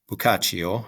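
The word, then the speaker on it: Boccaccio: days um it is his name is PR pronounced again bukach and uh he gave accounts of what people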